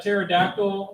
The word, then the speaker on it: pterodactyl: You know why you can't hear a pterodactyl when they go to the bathroom? No. P is silent.